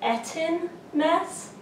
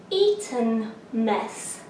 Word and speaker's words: Eton mess: probably an embarrassing amount of time calling it Eton mess, which I definitely have ordered it at the Cambridge Tea House as that and no one corrected me. But it's actually Eton mess, according to the Google lady also that helps